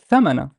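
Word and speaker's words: ثمن: I pronounce it thamana, thamana, thamana.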